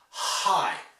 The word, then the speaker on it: high: A lot of French students find it hard pronouncing the H's correctly, like high.